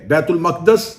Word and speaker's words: بیت المقدس: چلیں بیت المقدس اس کا اصل تلفظ ہے جس کے تحت اس لفظ کو بولا جا سکتا ہے.